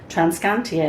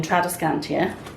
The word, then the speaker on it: Tradescantia: Guys, this, by the way, I was mispronouncing this plant. I was calling it Tradescantia. It should have been Tradescantia.